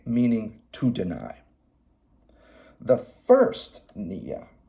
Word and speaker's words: nia: There's one spelled N-Y-A, pronounced Nia, and another spelled N-I-A, pronounced Nia.